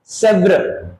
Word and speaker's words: Sèvres: So Paris में एक जगह है Sèvres, इसको प्रोनाउंस करते हैं Sèvres.